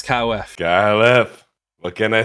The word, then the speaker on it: KyleEff: from both Akko and Camden, how do you pronounce KyleEff? KyleEff.